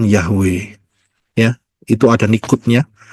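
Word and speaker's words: Yahweh: ya itu ada nikutnya jadi itu keliru saudara ya bukan Yehova tetapi yahwe ya terbukti dari setiap kali kita mengucapkan Haleluya bukan haleluy Betul kan kalau kan halelu Yehova tapi yang kita lakukan adalah Haleluya di seluruh dunia ngomongnya Haleluya yaitu yahwe jadi itu yang betul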